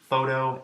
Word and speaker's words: photo: at the beginning yet all three of these words begin with the sound we associate with the letter F in this way we